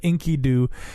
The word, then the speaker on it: Enkidu: He said Enkidu sounds so silly, but Enkidu really is kind of the proper pronunciation, because I think Enkidu